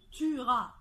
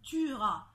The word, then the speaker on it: tuera: tué futur on dit tuera il tuera baisse comprenant ce nom on dit il tuera on ne prononce pas le e alors j'aimerais juste d'en